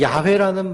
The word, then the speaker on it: 야훼: 마틴 루터가 번역했는데 독일 사람들은 야훼 발음이 안 돼요.